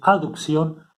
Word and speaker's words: abducción: movimientos es el de abducción a producción acá no está la letra e pero para pronunciarlo diferente se pronuncia aducción y abducción en el sentido del